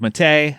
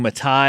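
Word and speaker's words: Mattei: I'm doing the month of Mate. I've been saying Matai. I've been mispronouncing his name.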